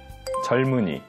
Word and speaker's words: 젊은이: 옮기다 옮기다 젊다 젊다 겹받침 리을 미음은 미음으로 소리 나지만 리을 미음 받침 다음에 이응이 오게 되면 미음이 아니라 리을로 소리 난다고 배웠어요 다시 한번 복습해 볼까요 젊은이 젊은이 살마 살마 학습자분들의